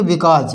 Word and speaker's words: because: बिकॉज, BECAUSE, एस से पहले vowel है तो इसको बोलेंगे बिकॉज।